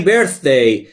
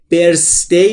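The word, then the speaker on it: birth: تو یو بردی هپی برث دوستان توجه داشته باشید تلفظ تی اچ زبون پشت دندون‌های بالا سعی می‌کنم بگم سه سمیه برث برث برث برثی هپی برثی بردی نیستا سه نیست نیست برث برث هپی برث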